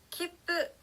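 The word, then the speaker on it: きっぷ: 자, 그 다음은요, 파행 앞에 왔을 때는 비읍 받침처럼 소리가 납니다. 뒤에 어떤 자음이 오느냐에 따라서 이 초금의 발음이 바뀐다고 했었죠? 자, 키프, 표라는 단어는요, 입술이 모였다가 발음이 나기 때문에 받침도 비읍 받침처럼 소리가 납니다.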